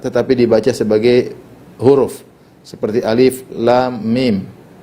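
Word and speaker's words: الم: dibaca sebagai huruf seperti Alif Lam Mim Alif lamim tidak dibaca alam yang seperti ini saya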